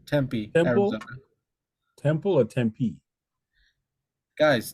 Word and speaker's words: Tempe: Well, Tempe, I think it's the correct pronunciation. Tempe, Arizona.